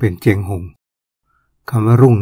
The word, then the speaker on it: เชียงรุ่ง: หลวง คำ นคร เชียงรุ่ง เขียน ว่า เชียง รุ่ง แต่ เวลา ออก เสียง ออก เสียง เป็น เจง หหง คำ ว่า รุ่ง นี่